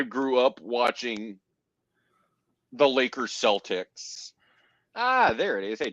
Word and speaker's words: Celtics: I say it like it's supposed to be freaking pronounced, which is Celtics because it's a hard K. Except if you're freaking from Boston, and then apparently it's a soft S for Celtics.